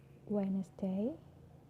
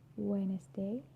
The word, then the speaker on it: Wednesday: For example, Wednesday, handsome, sandwich. Wednesday, handsome, sandwich. So I'm not pronouncing the D, I'm just pronouncing the N consonant sound.